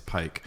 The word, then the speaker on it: pike: coming down the pike a lot of people say pipe it's pike also ezra how do